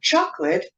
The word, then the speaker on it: chocolate: more natural for example the word advertisement is pronounced with the stress on the second syllable while chocolate is pronounced with a stress on the first syllable it is certainly